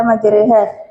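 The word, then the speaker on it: مجراها: Cara membacanya adalah majha dibaca majreha.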